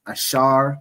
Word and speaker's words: Asher: So those those countries in between there are predominantly the tribe of Asha right in the Hebrew it's ash pronounced ashar which means happy the symbol is the royal dainties which is typically grapes.